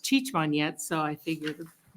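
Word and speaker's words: Cicmanec: Hispanic that's last name is Czechoslovakian so it's c-i-c-m-a-n-e-c used to be pronounced chichman yet so I figured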